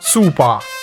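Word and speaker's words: スーパー: Ici le kanji show se pronce à l'anglaise donc soupa. Nous le savons grâce au manga où le kanji est accompagné des katakanaas suivants sou indiquant cette prononciation.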